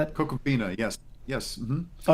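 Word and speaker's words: Ko'koomfena: Could you tell me the pronunciation of that? Cocoabina.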